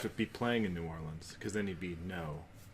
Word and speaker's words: Orleans: I don't even know how to pronounce his first name. Darkwa? That would be Orleans Darkwa.